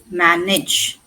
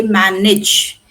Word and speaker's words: manage: Manage it as in bridge. Manage. Now why do we say age and here we say manage?